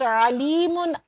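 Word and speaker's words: أليم: It is not the alim. Alim is the knowledgeable. Alim is painful. If we pronounce alimun as alim, so it becomes painful. So alimun with hamza.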